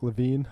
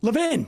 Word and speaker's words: Levin: mark levin or mark levine do you know how to pronounce levine levin get out of here yeah exactly uh i've